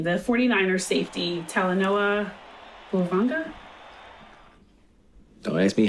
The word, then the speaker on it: Hufanga: How you pronounce it? San Francisco? Yeah. Hufanga. Hufanga?